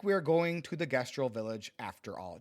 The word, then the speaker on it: Gestral: Looks like we are going to the gestal village after all. Gester, I keep on pronouncing this incorrectly. Gestro. I'm pretty sure it's gestal.